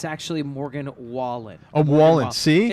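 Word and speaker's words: Morgan Wallen: I could just for a second it's actually Morgan wallet a wallet see it's okay it's okay no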